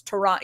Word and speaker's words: Toronto: That's why Toronto, when everyone's like, oh, it's Toronto, you don't pronounce the T in Toronto.